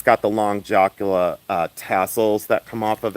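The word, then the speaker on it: jacla: And then I have a Jakla necklace. I pronounce it Jakla because I'm Caucasian.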